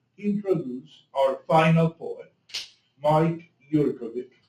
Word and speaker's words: Jurkovic: Anyway, so I have the privilege to introduce our final poet, Mike Jurkovic. Did I say it right? Yep. Excellent.